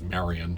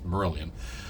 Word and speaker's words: Marillion: their name was pronounced I think for a little bit I was kept pronouncing it as Marian because I m a r i l l i o n okay was it was it Marian like like like caran but no it was merilan and uh I was